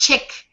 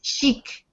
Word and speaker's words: chic: Yeah, and it's not really pronounced chic, it's chic. I think it might be French, I'm not sure.